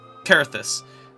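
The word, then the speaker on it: Coerthas: lorewise we're in aoria he's he's just pronouncing everything wrong so carus is where we're at cuz it's spell c o e ER carus anyways at a place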